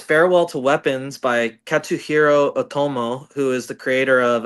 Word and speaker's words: Otomo: Oh, how do you pronounce it? Otami? Otomo. Otomo.